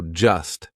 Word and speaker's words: just: We drop that T. We do not pronounce it. So just sounds like just, right? Just an S.